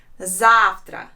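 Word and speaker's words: завтра: russian language sounds Zafra zavtra there are two syllables in this word and the stress is on the first letter I Zahra and here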